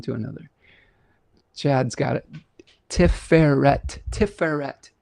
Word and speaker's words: Tiferet: Emphasis on the second syllable.